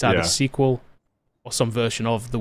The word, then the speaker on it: SQL: horse's mouth mr bill gates that he uses sequel he's on video sequel in plenty of different places he does not use sql so right thought that was kind of and